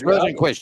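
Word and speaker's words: Rosenqvist: last at all Felix I can't pronounce his like rosenquist Rosen Felix rosenquist you got it first time around go how about that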